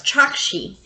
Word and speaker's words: Chokshi: See, I said it wrong. It's Chokshi.